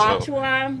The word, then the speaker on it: Alachua: Alachua, Would you like me to help you out on that one?